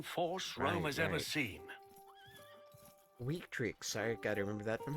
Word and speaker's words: Victrix: Victrix, I gotta remember that from high school. V's are pronounced with W's.